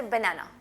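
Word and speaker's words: banana: बनाना लोग कहते हैं, बड़ा अच्छा रॉन्ग प्रोनाउंसिएशन, क्योंकि ए आप हमने जो साउंड पढ़ी है कि वो ए है. सो बनाना. Okay. That's the correct pronunciation.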